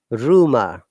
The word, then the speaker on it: rumor: R should be pronounced at the beginning of a word, any word, and the last R is not pronounced. Rumor, but American will say rumor, and they spell it this way.